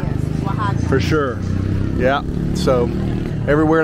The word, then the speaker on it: Oaxaca: The X is pronounced like an H here. Yes. Oaxaca.